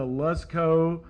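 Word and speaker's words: Lascaux: Currently, our 6th graders are working on Paleolithic cave painting, specifically the Lusco. I've been told that's the way you pronounce it, like let's go, let's go, cave paintings in France.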